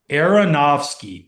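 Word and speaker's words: Aronofsky: Aronovski. Areronowski.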